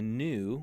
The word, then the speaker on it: nu: oops salon and notice the difference between the new which has the pointed that's the n Sound